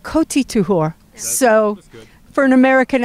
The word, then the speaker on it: Kohti Tuhoa: How do you pronounce the band name? KOHTI TUHOA. Not too bad. I've said KOHTI TUHOA.